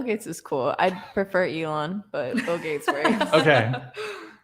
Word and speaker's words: Elon: So Ellen. I don't know how to pronounce his name. Elon.